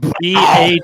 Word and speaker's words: BAWLS: BAWLS. Rhymes with jowls.